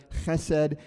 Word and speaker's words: Chesed: Chesed and Gemilut Chasadim would be how you would pronounce that.